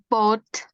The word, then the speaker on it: bought: Cara bacanya apa? Boat.